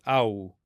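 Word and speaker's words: ܗܘ: Notice that he is actually pronounced in Hebrew and in Arabic, but it's there in the script in Aramaic, but not pronounced.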